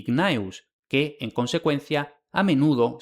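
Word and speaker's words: Gnaeus: los nombres Gaius y Gnaus, que en consecuencia a menudo se escriben y se pronuncian erróneamente Kayo y Kneo.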